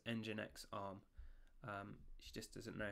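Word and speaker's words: nginx: popular image is called jinx arm it has been pulled 240 thousand seven hundred and five times so what she actually said there was engine X arm she just doesn't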